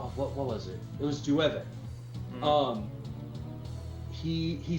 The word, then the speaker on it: llueve: like, you know, like, general Spanish, it's llueve, you know, like the word for rain, you know, because it's got the double L's, so you say it like a Y. Yeah. But apparently, in Panama, if it's got the double L's, you say it kind of like a J.